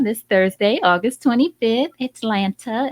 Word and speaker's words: Atlanta: which is coming to Atlanta this Thursday, August 25th. Atlanta, as we out of towners say it. Atlanta is how the locals say it.